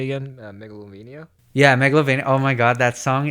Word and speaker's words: Megalovania: Yeah, Megalovania.